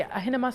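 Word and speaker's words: Ahenema: But I always mispronounce it. The Ahinema slippers, is that how? Yes.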